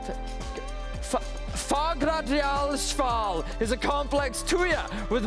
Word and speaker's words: Fagradalsfjall: Fagradalsfjall is a complex tuya with multiple prominences on the Reykjanes Peninsula, around 40 kilometers from Reykjavik, its highest summit in Langhoil.